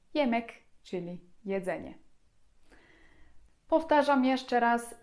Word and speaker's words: yemek: I ostatni dźwięk, inny niż w języku polskim, to je. Czytamy zupełnie tak jak polskie j. I przykładem będzie tutaj jemek, czyli jedzenie.